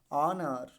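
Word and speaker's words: honour: ठीक है, अब ओ से पहले क्या है, एच है, तो क्या हो जाएगा, साइलेंट हो जाएगा। तो क्या हो जाएगा, इको। ठीक है, ऑनर।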